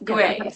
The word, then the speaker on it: Gwei: How do you say is it guay? Yes, guay. So, that's like the Mandarin Guay is the Cantonese pronunciation.